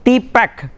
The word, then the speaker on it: TPACK: key framework acronym was renamed as T pact pronounced as T pact for the purpose of